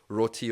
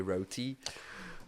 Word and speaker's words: roti: home like you know your curry your roti or as Americans say roti.